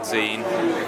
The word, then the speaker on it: zine: zine of drawings of things that rhyme with the word zine for instance Wolverine time machine Vaseline tambourine and so yeah so